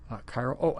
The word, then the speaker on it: chiral: isomers and run superimposable we pronounce this chiral and the other thing